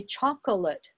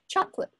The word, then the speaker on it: chocolate: aren't there aren't there if somebody's very careful they might say chocolate and that's good but if they're speaking more quickly and more casually chocolate it has two syllables so sometimes there really